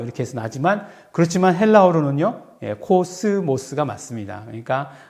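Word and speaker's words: κόσμος: 그래서 즈 발음 나기 때문에 이거는 S 발음이 아니다. 뭐 이렇게 해서 나지만 그렇지만 헬라어로는요. 코스모스가 맞습니다.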